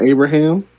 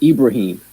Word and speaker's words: Ibrahim: looking at him yeah is it not Abraham no it's Ibrahim how do you I